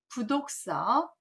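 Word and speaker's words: 不讀書: 1일 부독서 구중 생형극 1일 부독서 구중 생형극입니다. 잘 보시면 1일 하루 부독서 원래 안이 불자지만 뒤에 디귿자가 오면 발음이 불편해서 부발음으로 하기 때문에 부라고 있습니다.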